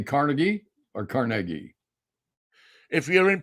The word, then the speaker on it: Carnegie: Now, if you're smart, you go with Carnegie, because that's the way it's pronounced. But yeah, no, you got the whole Carnegie.